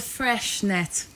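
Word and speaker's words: Freixenet: $30 this is the fresh net cava now it's actually pronounced frecks with an X net but because it's Spanish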